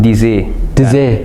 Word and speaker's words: Deazy: pronounce it actually like it's actually pronounced dizzy yeah yeah you love